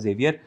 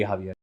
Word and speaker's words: Javier: I mean, if the English pronunciation of it is of course Xavier, but the Spanish pronunciation of it would be Javier.